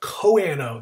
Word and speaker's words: choano: uh uh protists called choano or koano the h is silent uh coanoflagelets uh so